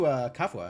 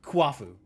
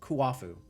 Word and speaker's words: Kuafu: I wonder if I can take it to Kafua and have him make something out of it. Or Kuafu. I keep getting his name wrong. Kuafu. The U's are doubled, not the A's.